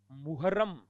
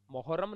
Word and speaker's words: मुहर्रम: आशीर्वाद, आकर्षण, उत्तीर्ण, प्रादुर्भाव, प्रादुर्भाव, दर्शनीय, प्रादुर्भाव, दर्शनीय, अंतर्भाव, अंतर्भाव, मुहर्रम, मोहर्रम नहीं होता, मुहर्रम होता है।